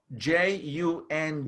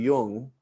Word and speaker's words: Jung: Jung. Yes, and if you don't speak German, or at least a little Yiddish, you might not pronounce that word correctly, like Carl Jung, That's right.